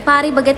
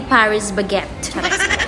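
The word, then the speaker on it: Paris Baguette: Par baguet daw yung pag-pronounce niyan. Hindi Paris bagette.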